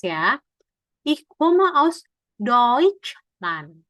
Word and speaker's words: Deutschland: Ich komme aus Deutschland. Tadi kan TSCH bacanya kayak C ya.